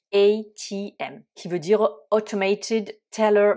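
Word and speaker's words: ATM: alors et im donc les lettres à tm qu'on dit bien sûr avec l'alphabet anglais donc et im qui veut dire automated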